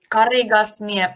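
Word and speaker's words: Karigasniemi: Sorry, how do you pronounce the place? Karigasnie. I can. Oh, Karigasnie.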